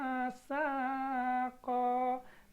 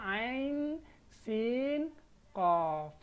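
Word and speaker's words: عسق: ya ain Q Jangan dibaca asqo nanti ditertawain sama orang ya Ee jadi setelah belajar fawat husuar ini harapannya Ketika nanti Kalian membaca al-qur'an ketemu dengan ee ayat-ayat fawatihus suar ini mohon dibaca dengan benar Jangan lagi dibaca dengan salah ya karena pada fawatihus suar ini yang kita lihat ya tidak sama cara membacanya dengan apa yang sebenarnya seperti ini kan kita kan asaqo padahal kita baca Ain Sin of seperti itu ya Jadi untuk pertemuan ee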